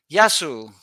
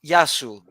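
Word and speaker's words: Γεια σου: Yasu if it's if you're talking to one, Yasu to you. But if you're talking to Okay. many, Yasas. But the plural, sas are many.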